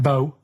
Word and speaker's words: BO: It's not pronounced bow and it's not spout bow. Um who calls it bow? Everyone knows it's bo.